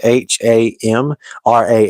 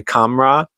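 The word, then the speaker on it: Khamrah: It's spelled K H A M R A H, but it's pronounced Hamra, I believe, is how you say it. You don't say Kamra, but either Hamra or the one with a Q.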